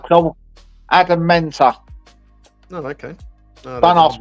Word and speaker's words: Mentor: Adam Mentor. Oh, okay. No, Don't ask me to spell it. I've got dyslexia, but it's M-A-T-A, you'll say. No, it's M-A-N-T-A.